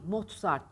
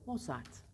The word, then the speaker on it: Mozart: değil bakın TL değil mozzart değil Mozart da değil Hafif değil ete arası moosart Balkan Amadeus Mozart'ın 43s